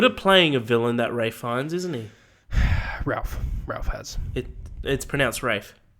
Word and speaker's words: Fiennes: Yeah, him and Ralph Fiennes and Ben Kingsley as well.